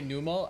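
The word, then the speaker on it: Numel: You say Numal. Okay, fair. I go for like numl like number cuz the word camel doesn't have like a long vowel sound. But I've also used both pronunciations before.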